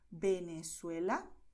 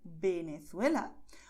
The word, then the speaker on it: Venezuela: el español, es que la letra V y la letra B tienen el mismo sonido, que es el sonido de B, ¿vale?